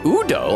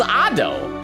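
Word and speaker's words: Ado: Miku Expo AO concert oh pronounced Udo I thought it was AO like a like a e a o huh amazing Japanese singer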